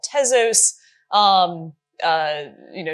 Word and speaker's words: Tezos: um uh you know tesos is a madeup word so you can technically pronounce it however you wish um but uh I I I have the ezos um but you can call it tesos if you if You' like um but yeah so